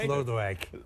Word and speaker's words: Lodewijk: Yes, it's pronounced Lodewijk.